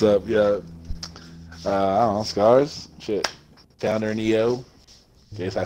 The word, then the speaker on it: Skarzx: The X does not get pronounced. The X What? is there to establish the name. You do not pronounce the X at all. It's just Scars. Not Scars X, not Sharks, not Stars. It's Scars. Like a scar on your arm.